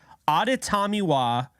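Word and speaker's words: Adetomiwa: maybe 0.1 of anybody talking NFL draft can pronounce correctly it is auditamiwa I did say that correctly because I have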